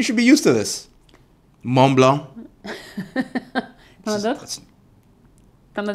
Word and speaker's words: Mont Blanc: of my head, but Mont Blanc is the main one. That has both of them, actually. It has the T and the C you don't pronounce.